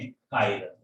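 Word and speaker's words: chiral: अच्छा, डिसिमेट्रिक के लिए वर्ड दिया इन्होंने कायरल। तो अगर कोई कंपाउंड कायरल है, जिसे कई लोग चिरल वर्ड पढ़ लेते हैं, व्हाटएवर, प्रोनाउंसिएशन से ज्यादा मतलब नहीं है।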